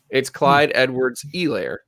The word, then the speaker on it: Clyde Edwards-Helaire: And here's a fun fact I learned not terribly long ago, that the H in his last name, you don't say it. Helaire? Yeah. It's Clyde Edwards-Helaire.